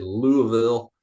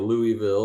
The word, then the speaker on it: Louisville: to the PGA Championship Valhalla in Louisville or Louisville or Lewisville or however you want to pronounce it Kentucky um awesome Golf